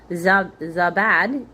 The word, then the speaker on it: Zabad: Zab Zabad.